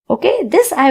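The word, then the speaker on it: hay: Means in the class. There are four students in the class. I person. Okay. Again, H A Y is pronounced as I. The H is silent.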